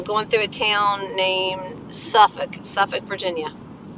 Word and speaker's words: Suffolk: my destination I'm going through a town named Suffolk in Suffolk Virginia it's really spelled Suffolk s-u-f-f-o-l-k let's pronounce Suffolk like Norfolk is spelled n-o-r-f-o-l-k but